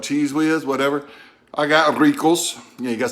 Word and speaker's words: Ricos: I got Ricos.